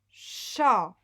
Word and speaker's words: chat: Effectivement, dans le mot chat, il y a une lettre muette à la fin, vous la connaissez.